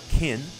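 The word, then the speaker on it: Qyn: Kin, I think that's how it's pronounced. It's spelled Q-Y-N, so I'm not entirely sure.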